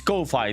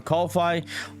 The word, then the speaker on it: Ko-fi: I think it's Ko-Fi, that pronunciation, but I think it comes from the concept of buying a coffee to someone.